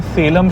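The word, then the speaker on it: Salem: पहले मैं इसे सालेम सालेम बोलता था। मुझे पता नहीं था इसकी इंग्लिश में spelling S ए एल इ एम है। बट बाद में मुझे कई लोगों ने करेक्ट किया कि इसे सेलम बोलते हैं।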